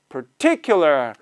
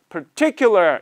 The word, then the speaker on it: particular: 하면 particular라고 발음을 하시는데 파가 아니라 per, 어로 하셔야 돼요. 왜냐하면 the stress is on I, I가 스트레스 있다 보니까 A is pronounced like a로 발음이 돼요. A가 아니라 a로 발음이 돼서 particular, particular 이렇게 particular가 되는데 사실은